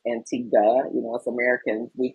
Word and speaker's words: Antigua: And I learned that it is pronounced Antigua. Us Americans, we pronounce it phonetically Antigua. It's not a gua, it's a guh.